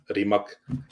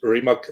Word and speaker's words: Rimac: So yeah, we were supposed to go visit the Rimac, we call it Rimac, but in English you usually pronounce it Rimac Electric Supercars Factory.